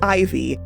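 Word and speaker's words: Eyevee: Her name is Ivy, but it's spelled E-Y-E-V-E-E.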